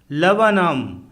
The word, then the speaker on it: Laburnum: LABURNUM लवनम अर्थात अमलतास का पेड़, इसमें 2 बार U फॉर अम्ब्रेला आया है तथा R फॉर रैट साइलेंट है।